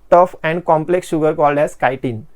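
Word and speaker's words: chitin: and complex sugar called कायन spelling लक्षात घ्या सी एच आय टी आय एन लिहिलय चिटीन नाही ते चायटीन वगैरे नाही म्हणायचं कायन ओके मता प्लांट सेल्स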